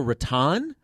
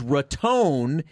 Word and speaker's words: Raton: or debate, down there, somebody had made reference to Boca Raton, but had said it the other way, and so it had sparked this debate because nobody really knows which way you say it, because there are some people that say it's absolutely this, and then the other side says it's absolutely this. But I think what we found out is Raton is the correct.